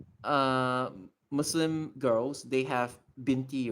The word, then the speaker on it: binti: Arabic ones it's like binti right and it's abbreviated using bte So, so the exact same chi Chinese guy, he pronounced binty as bite like b i t e.